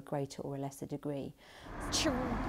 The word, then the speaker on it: chorizo: Something like chorizo is fairly well established now in English as an anglicised word. Now, that's not how it sounds in Spanish. The Z letter in Spanish is pronounced either like a S or like a Th, depending on which part of the Spanish-speaking world you're coming from.